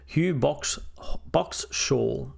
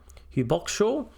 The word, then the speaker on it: Hugh Boxshall: Hugh Boxshall. That's how you say his name. Hugh Boxshall.